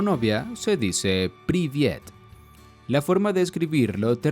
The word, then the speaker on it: привет: Si quieres decir hola en ruso a tu amigo, amiga, novio o novia, se dice privyet. La forma de escribirlo te resultará algo rara y se escribe así.